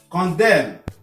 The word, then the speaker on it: condemn: Le L ne se prononce pas. Condemn.